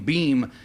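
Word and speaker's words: Boehm: Birds connoisseurs recognize that the name beam is spelled b o hm now our first guest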